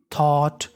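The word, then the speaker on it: thought: अगर आपको इंग्लिश में कहीं पर GHT लिखा मिले ये हमारा कोड होता है। इसे पढ़ते हैं टा। क्या पढ़ते हैं? टा। और शुरुआत में लिखा है THOU इसे पढ़ते हैं थॉ। क्या पढ़ते हैं? थॉ। तो मीनिंग बन गई थॉट।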